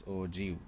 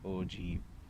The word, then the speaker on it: ogive: The term OGIV is pronounced as OGIV, O-J-E-E-V, OGIV, and is derived from the word OGI, O-G-E-E.